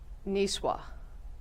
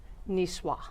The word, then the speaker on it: niçoise: school, not French, but I believe it's pronounced salad niçoise.